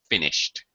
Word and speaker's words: finished: sound uh voiceless sounds the e d is pronounced as a t finished so like walk walked